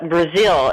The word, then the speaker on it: Breazeale: Okay, it's Breazeale. It's pronounced like the country, but certainly not spelled that way.